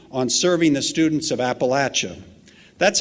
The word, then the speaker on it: Appalachia: it in the region Appalachia with the short a you're probably more inclined to say Appalachia and that's certainly fine but if you come down south you need to learn how to say it correctly president frost articulated this